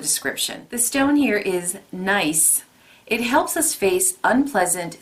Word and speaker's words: Gneiss: The stone here is Gneiss.